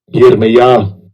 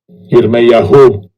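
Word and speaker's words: יִרְמְיָה: It's pronounced Strong's H3414. Yirmiyah. Jeremiah. Yirmiyah. Whom Yahweh. Second entry. Yirmiyahu.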